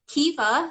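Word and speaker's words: Caoimhe: And I've got Kiva, so it's spelled the Irish way. Kiva, okay.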